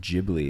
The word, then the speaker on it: Ghibli: When we named the cat, we named it Ghibli, and then people were like, "It's pronounced Ghibli if you're trying to go for the movies."